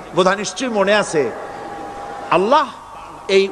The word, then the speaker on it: আল্লাহ: নিশ্চয়ই মনে আছে আছে আল্লাহ এই উচ্চারণটা আমাদের অনেকের হয় না কেউ বলে না আল্লাহ আল্লাহ পাকের উচ্চারণটা হচ্ছে আল্লাহ পাকের নামের উচ্চারণ হচ্ছে আল্লাহ মুখটা একটু গোল হয়ে যাবে বলেন আল্লাহ আল্লাহ সুবহানাল্লাহ